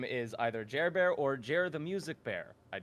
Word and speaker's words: JerBear: You gotta be careful with how you pronounce glad. it, or else you're gonna say Gerber like our other guest. Oh. JerBear, Gerber.